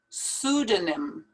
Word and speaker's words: pseudonym: Don't pronounce that P at the beginning. Pseudonym.